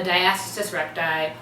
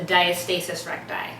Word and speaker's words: diastasis recti: 30 weeks I discovered that I have a diastasis recti or you may have heard it pronounced a diastasis reti it's the same thing but it's a condition